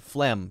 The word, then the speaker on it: phlegm: emotion phlegmatic phlegm phlegmatic so this is silent phlegm just like an m sound and this is g